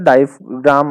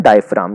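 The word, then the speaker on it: diaphragm: भी आ रहा है, तो जी का साउंड नहीं आ रहा। हाँ, तो नहीं आ रहा, बेसिकली जी क्या है यहाँ पे, साइलेंट। इसको क्या बोलते हैं, साइलेंट है मतलब जी। इसको क्या बोलते हैं, डायफ्राम।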